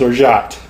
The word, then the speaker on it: orgeat: It's spelled kind of odd. It's It's spelled like it's pronounced Orgeat. So, as in you roll into the swingers conference and say, "Hey, where's the orgy at?" But it's not. It's Orgeat.